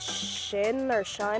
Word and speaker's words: Shein: this website or like app called Shine or something like that. It's spelled like Shein.